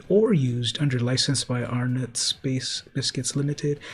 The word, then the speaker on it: Arnott's: used under license by Arnott's Biscuits Limited. It's pronounced Arnott's.